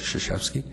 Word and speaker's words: Krzyzewski: That's spelled K-R-Z-Y-Z-E-W-S-K-I, but it's pronounced Krzyzewski.